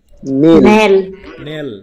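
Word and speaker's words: knell: এবার এটা বলি কে এন E double L এটার উচ্চারণ কি নেল তাইতো আচ্ছা নেল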